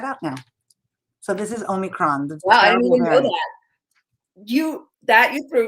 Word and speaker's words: omicron: asked my great colleague how to say it omicron that's right right now omicron is written as